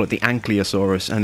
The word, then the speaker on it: Ankylosaurus: I keep calling it Ankylosaurus, but it's not, it's Ankylosaurus. I always had the L and the Y the wrong way round.